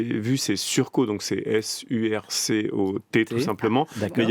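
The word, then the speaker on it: surcot: Et surco, effectivement, là du coup la prononciation, pas de E, donc c'est pas surcôte, ce n'est pas surcôte.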